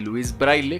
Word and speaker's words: Louis Braille: es el nacimiento de louis braille que a propósito quiero mencionar que esa es la pronunciación en español del nombre porque en francés es un poco diferente enlace el 4 de